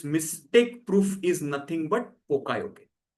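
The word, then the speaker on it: poka-yoke: proof is nothing but pokayoke. Now the pronunciation might be a little different in authentic Japanese language but let's for our understandings let's call it as pokayoke.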